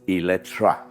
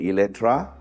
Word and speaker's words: Eletre: today is the launch of the all-new Lotus Electra yes the spelling says e-l-e-t-r-e but it's pronounced with a a don't ask me why